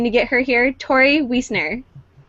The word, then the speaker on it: Wiesner: Did I say it right? I said it right? Yes, you did it. Okay, good. We talked about it and then I forgot if it was Wiesner or Wiesner. No, you got it.